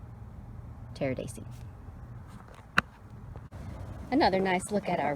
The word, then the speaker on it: Pteridaceae: And the family is the Pteridaceae, P-T, the P is silent, P-T-E-R-I-D-A-C-E-A. Pteridaceae.